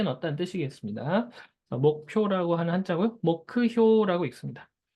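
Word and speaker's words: 目標: 목크효라고 읽습니다. 자, 네 번째. 네 번째가 조금 어려운 한자일 수 있을 것 같아요. 가만이라고 읽는데요.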